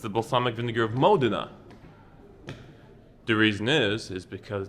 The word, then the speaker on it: Modena: probably says balsamic vinegar of Modena many people pronounce it as Modena but it's the balsamic vinegar of Modena the reason is is because it's made here